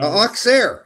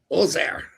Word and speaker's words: Auxerre: So maybe I wasn't sure if that X was silent or there's only 2 R's. There should be like 5.